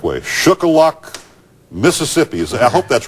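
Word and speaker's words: Shuqualak: let me pronounce to see if i can pronounce this the correct way shook a lock mississippi i hope that's right doug are you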